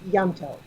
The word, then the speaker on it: Ianto: I mean, the I is barely there. It's Welsh. Yanto. Yanto. It's so hard to say. Like it's almost Yanto. As if it was spelled with a Y.